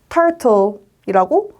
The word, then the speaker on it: turtle: t랑 e가 만나면 t 소리 난다고 생각하시면 돼요. 그럼 e는 여기서 소리 나지 않아요. 그냥 turtle이라고 발음하시면 돼요.